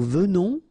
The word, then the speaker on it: venons: Okay, so final S not pronounced, and then remember that you pronounce this like a the, venons. Okay, O-N in your nose, on, venons.